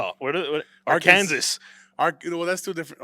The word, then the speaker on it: Arkansas: That's Yeah, like the S is silent unless you're Arkansas. dumb. What Arkansas.